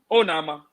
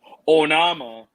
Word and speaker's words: Onama: actually won the match oh nama that is the actual pronunciation oh nama that is the african pronunciation pronunciation onama is the american pronunciation the boy has got